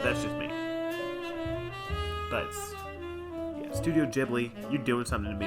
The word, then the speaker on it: Ghibli: good it's too good man ghibli yeah it's pronounced ghibli not ghibli you idiot uh it's it's bounced with a